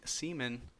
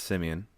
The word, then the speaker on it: Simeon: few times okay first first of all it's Simeon you're gonna pronounce it right for the remainder of the show dirty Dan listen first